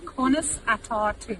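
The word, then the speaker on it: Conas atá tú: Okay, so in Irish it's Cunas Atatu. Cunas Atatu. Pronounce atatu.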